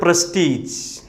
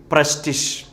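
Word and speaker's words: prestige: അടുത്ത വാക്ക് നമ്മൾ ഉച്ചരിക്കുന്നത് പ്രസ്റ്റീജ്. പ്രസ്റ്റീജ്. തെറ്റ്, പ്രസ്റ്റിഷ്. എന്താണ്? പ്രസ്റ്റിഷ്.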